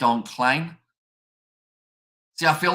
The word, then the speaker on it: Klein: I mean, I know that someone said that Klein is pronounced like stain. So Klein is how they wanted me to pronounce it. Is that correct?